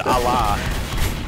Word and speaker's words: Allah: Put some respect on Allah's name. Oh my. It's pronounced Allah.